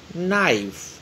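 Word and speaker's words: knife: Pronounce नाइफ, इसमें के silent है, के इज the silent word नाइफ।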